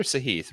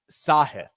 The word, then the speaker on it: Sahith: lost my sahith shares is it sahith or saheed rick he pronounces it sahith sahith okay that's good to